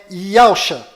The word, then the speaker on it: Yahusha: O verdadeiro nome do Messias está do lado direito da sua tela e a pronúncia dele é Yahusha.